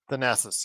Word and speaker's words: Thanasis: How do you pronounce Giannis's brother's name? Thanasis? Thanasis, yes.